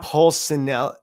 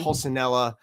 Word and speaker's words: Pulcinella: Pulcinella. If it's Pulcinella, or if it's Spanish, Pulcinella. It's Italian. Pulcinella. It's either way.